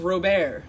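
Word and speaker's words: Robert: to introduce himself as robear with a silent T like the French say it but I was already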